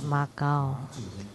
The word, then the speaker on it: Macau: actually means matu because the portuguese mispronounced it that's why they call it makao actually it meant matu so this statue for